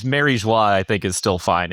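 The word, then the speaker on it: Mary Geoise: Um they have flashbacks of the holy land Mary Joyce. Marijua is that what how you pronounce it?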